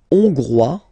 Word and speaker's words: hongrois: La Hongrie, hongrois, hongroise. Okay, hongrois, grois, hongroise. Okay, so here final S not pronounced for the masculine form, and then you pronounce it here for the feminine form.